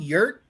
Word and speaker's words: yurt: Yert, Yurt. Yeah. Rhymes with hurt.